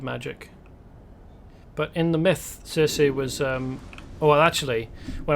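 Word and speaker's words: Circe: but in the myth cersei was um well actually when i was looking this up apparently it's supposed to be pronounced kirke the two c's are uh pronounced hard rather than soft but um regardless apparently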